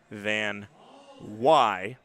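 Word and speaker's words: Van Wey: I believe this is the first time that he's had his name pronounced correctly, spelled V-A-N-W-E-Y, but it is Van Wy.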